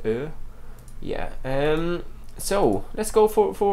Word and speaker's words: ö: The O with two dots, that's pronounced Ö.